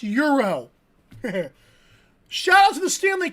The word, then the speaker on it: gyro: Spelled gyro, but it's pronounced Euro.